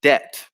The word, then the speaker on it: debt: silent letters and also the silent b in debt as well which can